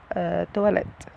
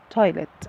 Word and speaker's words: toilet: طبعا النطق ده غلط، النطق الصح ليها تويلت، النطق الصح لكلمة تواليت الشائع يعني تواليت، لكن النطق الصح ليها تويلت، كأني بقول كلمة توي، توي لعبة. النطق الصح ليها يا جماعة تويلت مش تواليت.